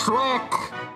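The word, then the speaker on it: X'rek: X apostrophe is pronounced like she or she. It's Shrek!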